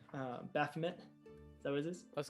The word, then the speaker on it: Baphomet: vomit i can't say his name right uh baphomet so what is this let's go with that baphomet uh demogorgon is the largest baphomet is the correct way of pronouncing that yes yay i did it baphomet